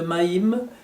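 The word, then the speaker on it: מים: Et l'union intime est exprimée par le mot même lui-même, puisque c'est tout simplement une prononciation un peu différente de Maïm, les eaux.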